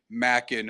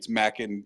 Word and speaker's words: Machen: is right he's like well it's Scottish it's Macken or maen right because that's how you and that's what it is on the Wikipedia if you look at the IPA Mack and and that's yeah so